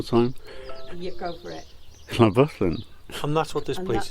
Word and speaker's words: Llanfyllin: So thanks to this gentleman who pronounced it properly for us, this is how you actually say Llanfyllin Workhouse. Great, Llanfyllin. One more time. You go for it. Llanfyllin.